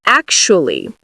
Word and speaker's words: actually: it's spelled with a TU, is pronounced like an SHU. So we would say ac-shu, ac-shu. And now if we add the last part, we can say actually. Some people say it in 4 syllables, ac-shu-ly, ac-shu-ly. Other people say it in 3 syllables, actually.